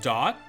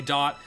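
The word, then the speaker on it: Daught: We have, I want to say his name is pronounced Dot, D-A-U-G-H-T from Midwinter.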